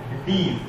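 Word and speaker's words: dees: इनका नाम है डीज, इनको हम लोग प्रोनाउंस करते हैं डीज, डी डब्ल्यू एस, क्योंकि डी शेप के हैं तो डी का प्लूरल फॉर्म डीज बोलते हैं।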